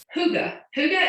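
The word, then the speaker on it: Hygge: So Huga is how you pronounce this blend, and it doesn't look anything like, it's not spelled how you would think you would pronounce it.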